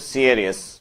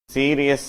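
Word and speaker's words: serious: கவனமாக இரு விளையாட்டாய் இருக்காதே இந்த வார்த்தையினுடைய உச்சரிப்பு சியரியஸ் சீரியஸ் என்பது தவறான உச்சரிப்பு 327 பாஸ் த மெசேஜ்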